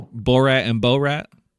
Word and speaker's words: Borat: You the first few times you said bor rat and that is just not how it's pronounced. Bo rat.